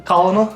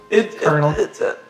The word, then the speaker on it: colonel: the colonel. I mean, It's a toughie. Colonel. It's colonel. It was never colonel. Anyway, so this there's no R in that. I know, but it is how you say it.